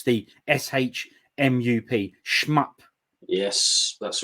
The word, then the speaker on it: SHMUP: Or how do you pronounce the SHMUP?